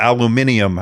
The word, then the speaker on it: aluminium: a magnesium alloy to an aluminum or aluminium, wherever, it depends on where you are, how you say it.